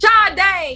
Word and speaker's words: Sade: Sade. I don't know if I'm pronouncing her name right. Sade. Yeah, there you go.